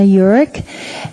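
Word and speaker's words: Eurich: my name is urich that's spelled e-u-r-i-c-h that's the hard part the front is easy that's j-o-h-a-n-n-a thank you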